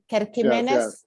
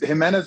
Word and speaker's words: Gimenez: Kirk Gimenez? Yes. It's Jimenez, but with a G.